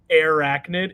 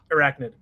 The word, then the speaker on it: Arachnid: I think it's because they never pronounced it Arachnid. It's always Arachnid. Like, it's never enunciated enough.